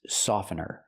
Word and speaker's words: softener: Remember, the T is silent. I cannot say softener, it's softener. This is fabric softener.